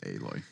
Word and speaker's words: Aloy: I always said Alloy. I guess I said it wrong. I imagine it comes from the word alloy. Yeah. But Aloy. They pronounce it Aloy.